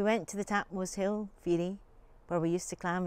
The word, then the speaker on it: fiere: It's the old Scottish word for a friend, along with Joe. But in this poem, I pronounce it Fiere because it gives me more rhymes.